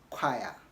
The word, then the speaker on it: choir: higher or higher not qua or higher difficult pronunciation but I've got to practice that choir okay now which of these sentences do you